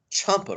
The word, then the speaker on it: champa: as please write down champa rice and i'll spell that if that's weird that's c-h-a-m-p-a chomper rice that's what was called and